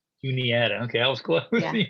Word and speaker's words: Juniata: she went to uh june anita is that pronounced correctly tune in juniata okay i was close